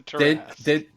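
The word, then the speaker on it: Tarrasque: Jeremy Crawford, it's the Tarask. They didn't put the pronunciations in it when Yeah, they it's one of started.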